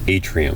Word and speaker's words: atrium: Singular, it's pronounced atrium. Think of it like the atrium of a building or museum.